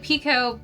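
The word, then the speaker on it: picot: I think it's peacot. Peacot. Let me You know what? Hold on. We're going to ask Siri. Hey Siri, how do you pronounce peacot stitch? Oh, pico. P E- kh. Pico. So, it's a pico stitch to do the ears.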